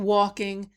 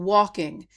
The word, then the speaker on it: walking: I want to bring to your attention, I said people walking. Even though the word is spelled with an L, we don't pronounce the L. The L is silent, so it's people walking.